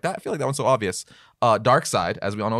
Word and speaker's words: Darkseid: amount of people that say dark seed instead of Darkseid yeah I've heard people